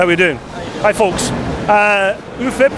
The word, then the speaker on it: UFIP: UFIP, as you pronounce it in Italian, Union Fabbricanti Italian Piatti. So there you go. If you're all wondering what it means, there you have it. UFIP or UFIP, whatever you